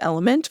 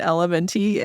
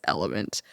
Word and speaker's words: LMNT: It's pronounced Element. For a really long time, we were pronouncing it LMNT, and we felt real silly when we learned that it's Element.